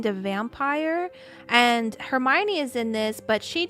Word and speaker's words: Hermione: My dad when my dad used to read Harry Potter to me he would say her name her own her one. Yeah. Her he used to say Hermione.